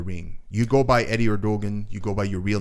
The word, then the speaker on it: Erdogan: So he's like, why don't you just pronounce it instead of like the ER, pronounce it air. So ErDogan, Eddy ErDogan.